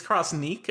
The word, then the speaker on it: Crossniq: been playing It's It's Crossniq. I've been saying Crossnic. Yeah, it's Crossniq. The official story is that it's a portmanteau of cross and technique. So, it's got the niq from technique.